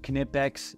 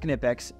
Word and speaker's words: Knipex: I do these are the knipex yes it's pronounced knipex you guys go look it up on their